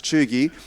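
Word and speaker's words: cheugy: bottom means chugi or the way you say that or pronounce it is chugi so chugi is the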